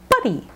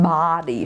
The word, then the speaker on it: buddy: V love V stuck buddy two syllables buddy make sure it's not body for Russian and Bosnian speakers not Body Buddy continuing money not M